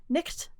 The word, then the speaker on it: night: But then, if you look back at Middle English, the word for night, it used to be pronounced nicht.